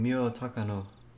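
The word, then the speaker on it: Miyo Takano: day of the festival accompanied by the missing mio takano is that how you say it yes was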